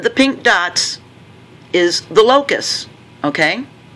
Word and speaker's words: locus: of the way first it's pronounced locus low cuss see when you see